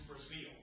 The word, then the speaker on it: Breazeale: The first case, excuse me if I mispronounce the name of the appellant, is it Breazeale or Breazeale? It's Breazeale.